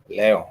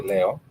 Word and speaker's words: Leo: Also, we do have what we refer to as Leo, which sounds pretty much and it's spelled pretty much like the star sign Leo, but in Swahili we do say it Leo for Leo.